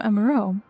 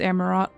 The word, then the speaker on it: Amarot: But if you belong to Azim, then what has become of our visitor from Emuro? He was meant to arrive some time ago. I always pronounce it Emuro, it's Amarot. Sorry.